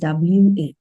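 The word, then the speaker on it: は: topic, in that case we put WA sound, or in greeting konnichiwa and konbanwa. So after topic, after these two, no, in these two greetings, we will be this WA pronunciation. Otherwise, if you see this particular hiragana in words, some vocabularies and all, you will pronounce it as ha only.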